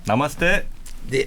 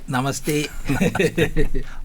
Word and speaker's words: 나마스테: 어서 오십시오 예 안녕하십니까 나마스테네 나마스테 아니 남았을 때 이렇게 하면 됩 발음은 괜찮습니까 예 예 어 이거는 벌써 아시는 분입니다 대부분 영어로 써 놓으면 나마스테 이렇게 발음을 하시죠 인도는 나마스 테가 맞습니다네 아 그렇습니까 아유 다행